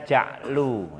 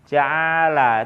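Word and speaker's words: جعل: Nah, gitu loh, bacanya ja'lu, ya kan gitu. Ja'lu enggak selalu jim ain lam itu ja'ala. Itu kalau fi'il, kalau isim ya bacanya bukan ja'ala, ya kan? Ja'lu.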